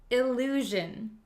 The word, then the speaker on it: illusion: it this word is illusion illusion illusion illusion it has the same JJ sound measure illusion so an illusion is